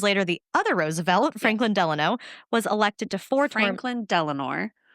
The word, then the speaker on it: Delano: succeed because later the other Roosevelt, Franklin Delano, was elected to four terms. Franklin Delanor, it's not Delanor. Franklin Delanor Roosevelt.